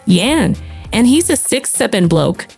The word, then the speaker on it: Jan: Jan until I explain it's pronounced Yan, and he's a 6'7" bloke.